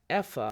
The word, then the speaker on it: Eva: piece of advice as all Eva is pronounced EA in German yeah I I can't